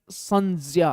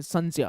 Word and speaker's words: संज्ञा: यदि मैं क्षेत्रीय प्रभाव या किसी पुरानी परंपरा के कारण संज्ञा का उपयोग कर रहा हूं, तो इसका सही उच्चारण "संज्ञा" है। हम इसका उच्चारण " संज्या" करते हैं।